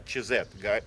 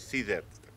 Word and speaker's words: CZ: Мы говорим про ЧЗ. Ребята произносят здесь CZ.